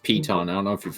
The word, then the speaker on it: piton: What's a pit in? I have 10 pittons. It's like a climbing spike. Oh, okay. It's pronounced piton.